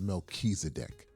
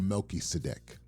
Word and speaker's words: Melchizedek: His name is Melchizedek or Melchisedec, however you choose to pronounce it.